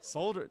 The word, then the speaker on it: solder: Solder. Dang. Why is there an L in there?